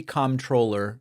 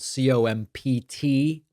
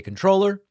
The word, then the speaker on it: comptroller: This is, of course, spelled Comptroller. You can say controller or you can say comptroller.